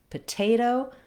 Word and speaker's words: potato: Same here in potato. This syllable is stressed, te, so I have a true T there. And then potato, again, this T falls between two unstressed syllables, and it's just like in tomato, it's going to be a flap. It sounds more like a D.